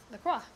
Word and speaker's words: La Croix: How do you pronounce this? La Croix. La Croix.